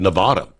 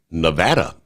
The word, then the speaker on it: Nevada: Uh, I've always said Nevada, yet the correct pronunciation is Nevada.